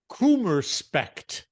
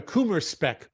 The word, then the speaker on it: Kummerspeck: In German, we say Kummerspecht. No, I'm sorry, Kummerspeck. Kummer, Kuma. Uh-huh. Oh, Speck, I guess. Speck. Kummerspeck.